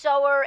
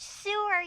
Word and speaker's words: sower: Hasten to the first sower and west, so with the lightning key be blessed? It's pronounced sewer, genius. No, it's not. Sower, as in one who sows.